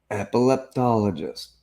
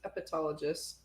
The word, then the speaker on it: epileptologist: Epileptologist. Oh, I thought it was epitologist. Epileptologist. Oh, I've been saying it wrong.